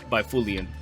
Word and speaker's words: Byfuglien: Was that a hard G I heard in there? Byfuglien? It was a silent G. Byfuglien.